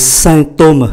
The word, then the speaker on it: symptômes: Mais provoquer là gây ra, là tạo ra, des symptômes, chúng ta để ý cách phát âm, đây là sain bởi vì chữ M đứng trước P thì có giá trị phát âm như là N, symptômes, provoquer des symptômes